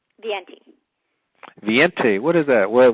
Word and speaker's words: Viente: now how do you say your last name viente viente what is that what what nationality is